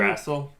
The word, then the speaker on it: Yggdrasil: to go to the pool with the water, Yggdrasil? Is that how you say the tree? Yggdrasil?